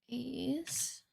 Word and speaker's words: Ais: Ais. Is that how you say it? Ais? Let me look it up. Pronunciation. Ais. Okay. I'm saying it right. Ais.